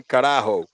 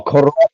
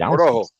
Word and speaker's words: Corojo: I know you couldn't pronounce it, but you say carajo. So carajo in Spanish actually means like go to hell or some shit like that. You know what I mean? Or like damn it. Let me spell it for me. Hold on. Spell it for me. Oh, Corojo. I don't know. I'm fucking white. Corojo. Yeah. Corojo, yeah.